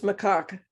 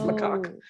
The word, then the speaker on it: macaque: How did you guys say it was supposed to be pronounced? It's macaque. Macaque. And Tay and I know a story about a certain governor calling somebody this. So it's macaque.